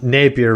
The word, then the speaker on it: Napier: he was talking trash on Napier, right? Is that how you say his name? Yeah.